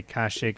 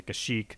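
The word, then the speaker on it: Kashyyyk: since this was 2003 the pronunciation of the planet is Kushi and every time I hear people talking that it triggers me a lot yeah it's its pronunciation changes a lot some some say kashik some say kashik like it it changes and even Star Wars media always goes from one to the other it's not like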